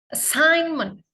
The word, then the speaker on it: assignment: Assignment. Bukan assignment, bukan assignment. Assignment. Silent letternya adalah G ini ya. Assignment. Assignment. Assignment. G dan N ya. Assignment bacanya seperti itu ya.